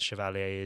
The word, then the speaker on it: Chevalier: I think is the Chevalier. correct pronunciation.